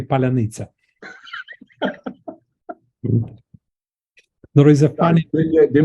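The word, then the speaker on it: паляниця: and then Ukrainian soldier says, say Palanitsa. That's the way we check the pronunciation, Ukrainian or not Ukrainian.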